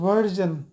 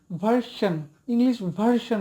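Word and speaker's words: version: সাইনবোর্ডে লিখে রাখে ইংলিশ ভার্সন লিখে থাকে, ভার্সন। কিন্তু এই উচ্চারণটা হবে ভার্জন, ভির উচ্চারণ হবে ভার্জন, ওরা লেখে ভার্সন, ইংলিশ ভার্সন বা ইংলিশ মিডিয়াম এভাবে লেখা থাকে।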